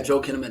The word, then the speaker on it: Joel Kinnaman: Joel Kinnaman. Did I say his name right? Yeah, Joel Kinnaman.